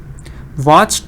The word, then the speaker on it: watched: Watched the films, shouted loudly. Very good. Watched the films, shouted loudly. So what happens again, I tell you. One syllable, will, watched, one syllable, films, one syllable.